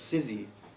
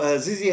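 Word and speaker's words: Zizzi: Newcastle if you're interested it's sizzy I don't know if you have been there it's Italian on the did I pronounce it right I probably have said it the wrong way Z zzy yeah that's the one yeah so zizzy has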